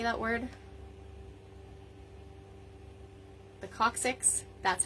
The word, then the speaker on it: coccyx: The coccyx?